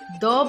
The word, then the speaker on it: the: सो अब हम बात करते हैं द के बारे में, जैसा कि मैंने बताया टी एच ई द को द भी प्रोनाउंस करते हैं और दी भी प्रोनाउंस किया जाता है।